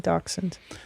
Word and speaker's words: dachshund: We both love small dogs, so we went for is it dachshund? Is that how you say it? Yeah, dachshund.